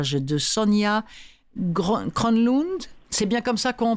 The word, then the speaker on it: Kronlund: « L'homme aux mille visages » de Sonia Kronlund. C'est bien comme ça qu'on prononce, Hermine ?